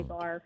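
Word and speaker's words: barre: more of a more of a bar ballet bar it's spelled b-a-r-r-e that's the only thing i know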